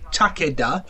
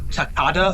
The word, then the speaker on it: Takeda: Takeda. It is a real Japanese name. It has an official Japanese pronunciation.